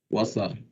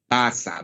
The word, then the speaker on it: Wasser: Parece que en el alemán también comienza con W, pero no se pronuncia W. ¿Saben cómo se dice agua en alemán? Wasser. Wasser, ¿verdad? Wasser. Muy bien. Wasser, ¿verdad? Se escribe Wasser y se lee Wasser.